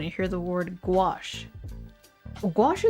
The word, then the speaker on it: gouache: Gouache is spelled weird. The way I see it is like go a g o u a c h e. Maybe because you think of squash. gouache and squash.